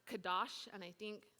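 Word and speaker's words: קדוש: In the Hebrew, holiness is pronounced kadosh, and I think it's somewhat close to Hebrew, kadosh, which means sacred, consecrated, dedicated, or completely set apart.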